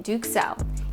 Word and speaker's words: duxelles: If you're struggling with the pronunciation, just remember, there's no duck in Duxelles, either in the recipe or in the pronunciation.